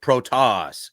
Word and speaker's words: Protas: Do we know how to pronounce Protas? Is it Protas? It's Protas.